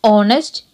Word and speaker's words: honest: The pronunciation of honest begins with the sound of the letter O because H is silent.